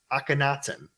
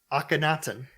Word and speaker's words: Akhenaten: a high priest and advisor for the pharaoh Akhenaten.